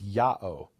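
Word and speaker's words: Ιαω: And then we have one Dead Sea Scroll where instead of Yud-Heh-Vav-Heh, they write it with the Greek pronunciation, which is Ya'o.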